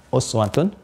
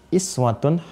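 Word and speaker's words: أسوة: Fi rasulillahi Uswatun Hasanah Ini bisa juga dibaca dengan iswah ada dua cara membacanya I ini kasrah kasrah ini dibaca lewat riwayat warsy jugaun dari Imam Nafi yaqum rasulillahi iswatun Hasanah pakai kasr sekarang perhatikan mukjizat Alquran ya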